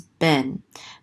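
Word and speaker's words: בן: closes out that syllable, so this is ben.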